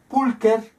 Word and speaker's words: pulcher: como ejemplo, adjetivos como pulcher, pulcra, pulcrum, hermoso. Ahí tenemos también, el masculino es pulcher. Veamos cómo se escribe con che, que en latín se pronuncia como k.